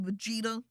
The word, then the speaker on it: Vegeta: over here doesn't he a vegeta i mean that's how you say it vegeta he totally draws manga